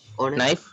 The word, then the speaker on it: knife: Knife. Yes. Oputala kiyanda. Knife. Knife. Yes, very good. Knife. K is silent.